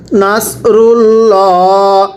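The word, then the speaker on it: نَصْرُ اللَّهِ: এরপরে নুন সদ জবর নাস রলাম পেশ রুল নাস রুল সদটা উচ্চারণ করতে হবে সদের মত করে। নাস রুল লাম খাড়া জবর ল এটাকে লা পড়া যাবে না। নাসরুল্লাহ হাজের নাসরুল্লাহি একসাথে নাসরুল্লাহি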